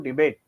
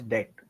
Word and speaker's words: debt: we don't use it correctly, we get into debate is what you said. Yes. So, what you're trying trying to say is we get into debt. Debt. The pronunciation is debt.